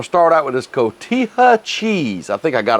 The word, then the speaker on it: cotija: i got some cilantro kotit kotita i can't pronounce this cotija cheese cotija there you go go out and get